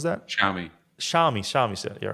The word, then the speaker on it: Xiaomi: I thought a quick note on is that zomi is that how you pronounce that shiai xiaomi xiaomi you're right xiaomi so xiaomi came out